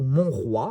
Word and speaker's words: Monroy: continue sa collaboration avec Cindy Monroy je pense que ça se prononce comme ça ou mon roi hein si on veut le prononcer à la française donc Aniel Reid et